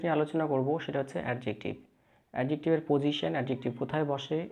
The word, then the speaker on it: adjective: আজকে আমরা যে বিষয়টি নিয়ে আলোচনা করব সেটা হচ্ছে অ্যাডজেক্টিভ।